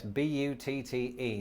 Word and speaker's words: butte: easily with this yes b-u-t-t-e now before i go any further it's probably important in the interest of not being demonetized that i point out that this word is pronounced but and it's probably quite